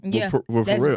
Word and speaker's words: Pharrell: Slim Thug was a millionaire before he signed with Pharrell. I'm about to say, my nigga, I'm about to say Pharrell. The P is silent.